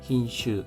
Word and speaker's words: 品種: 흰슈 하면 품종입니다. 슈가 짧은 발음입니다. 흰슈에노 품종으로의 우에카에루 하면은 우에카에루 바꿔 심다 또는 옮겨 심다의 뜻입니다.